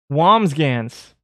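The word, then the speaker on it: Wambsganss: oh there it is pronunciation wombs gans wombs wham's gans whams look oh you know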